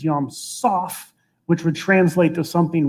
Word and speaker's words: Yam Soph: And one scholar argued that it's not actually Yam Suf, it's Yam Soph, which would translate to something roughly like the sea at the end of the world.